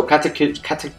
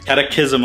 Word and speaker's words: Catechism: So Catechism of... No. You said it wrong. Catechism of Fire. Catechism, there you go.